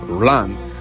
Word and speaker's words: lung: Lung, pronounced lang, means air and vital energy.